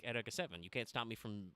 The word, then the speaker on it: Eureka 7: to ask Chad if you remember the anime EA 7 uh you may think of it as Eureka 7 but that's not how it's pronounced at all uh but that had two